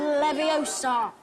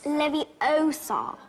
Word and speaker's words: Leviosa: Leviosa. Stop. Stop. Stop. You're going to take someone's eye out. Besides, you're saying it wrong. It's Leviosa, not Leviosa.